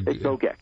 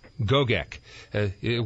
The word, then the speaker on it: Gogek: Am I pronouncing your last name correctly? It's Dr. Gogek. Gogek.